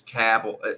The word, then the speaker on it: Cabell: it like huntington is in campbell county but that's spelled c-a-b-e-l-l so you hear cabell very phenomenal sorry jabel or table and it's cappell you know again it's it's just it's funny